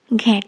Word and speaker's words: ঘন্ট: না শিকরের টান আসলে বাঁধাকপি মাছের মাথা দিয়ে যে ঘন্ট সেটাকে এই গ্রামের বয়স্ক মানুষরা ঘেট বলেই উচ্চারণ করতো তাই পুরানোর স্মৃতি মনে